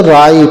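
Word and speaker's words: write: W silent हो जाता है, आर आई है तो इसको राई पढ़ा जाता है।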